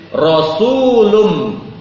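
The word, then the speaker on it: رسولٌ: minallahi yatlu suhufam Mutahar Kenapa tanwin rasulun tapi dibacanya kan karena bertemu dengan mim tasydid rasulum kenapa pakai tanwin itu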